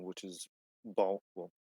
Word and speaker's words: Balltze: That lasted for like what, like 2 months, and now I'm on my permanent name, which is Balt, but it's supposed to be pronounced like, like Budgie.